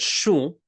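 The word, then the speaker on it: શું: This is the word shu. Shu. S-H-U. There we go. Shu, it means what? Now listen carefully to how I'm pronouncing it. This is shu. Shu. Notice it's very, very nasal.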